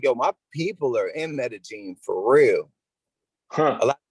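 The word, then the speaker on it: Medellín: and i'm like yo my people are in medellin for real a lot of people pronounce it that's not it's meta gene you know i mean but my people are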